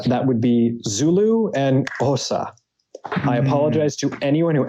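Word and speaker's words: Xhosa: my best attempt and that is spelled x-h-o-s-a so hosa question number seven in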